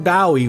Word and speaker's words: Bowie: But the place was likely named after Jim Bowie, which was pronounced like the knife.